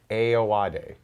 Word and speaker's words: Ayoade: Ayoade. Richard Ayoade.